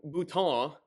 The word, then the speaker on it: Boutin: It occurred to him that Norman Boutin, apparently that's how it's pronounced. It's not Bouton or whatever, so there's that.